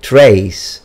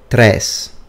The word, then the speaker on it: tres: They tell you to pronounce it like they. That's wrong, because if you pronounce it like they, you will have a E at the end there. A lot of people make this mistake. In fact, they say tres, but it's tres, tres.